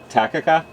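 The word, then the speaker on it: Takakkaw: just one and then uh how do you pronounce the Falls that start with the T down this road takaka okay cool home sweet home it makes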